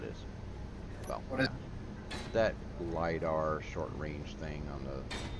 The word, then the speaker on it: LiDAR: Well, What is- that LiDAR short range thing on the multi-tool. Eventually I'll figure it out. Well, that rhymes with Vidar, and Vidar is a Finnish howitzer.